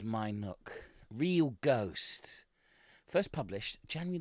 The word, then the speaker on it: Minuke: Yes, it's spelt Minuke. But it was My Nook.